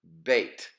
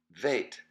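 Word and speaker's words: ב: it is pronounced but bait but when it is when there is no doggish when it's absent of the dot then it is pronounced Veit and the sound is the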